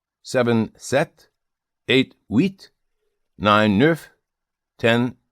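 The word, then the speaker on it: sept: Seven set.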